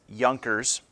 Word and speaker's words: Junkers: alongside with a group of people known as yonkers the jay is silent in this these are the wealthy landowners